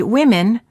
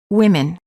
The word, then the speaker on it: women: the food beans also in the word women the o is pronounced as i women word pairs big city